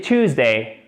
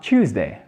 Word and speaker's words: Tuesday: Et c'est Tuesday, ok? En British English, on dira Tuesday.